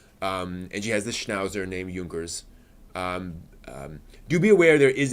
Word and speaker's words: Junkers: In terms of movies, there is Junkers Come Here, and yes, it's supposed to be pronounced Junkers.